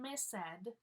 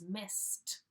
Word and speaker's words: missed: really hard for people it's not miss said it's missed with a T sound